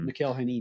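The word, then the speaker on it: Mikel Janín: Mikhail Hanini. Yeah, there you I think go. that's how it's pronounced.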